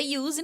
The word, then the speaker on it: Use: No inglês é use, no português é use, mas escreve igual pronuncia diferente.